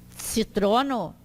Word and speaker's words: citrono: Citrono, limão. Ah? Citrono. Vocês viram que esse C não tem acento, mas ele tem essa pronúncia do tse. Lembrem de pizza.